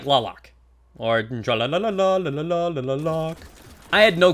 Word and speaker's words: Tlaloc: I believe the true way to say it is TLALOC. Like local or locust at the end instead of the lock that everybody keeps using.